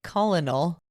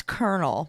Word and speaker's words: colonel: Air Force I was going to say colonal that's Colonel but why do they spell it like that it's ridiculous he was a